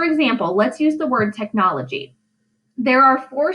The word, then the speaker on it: technology: technology for syllables now only one of those syllables has a stress listen see if you can figure it out technology do you hear it tech nology it's the second syllable in that word that gets the stress now according to the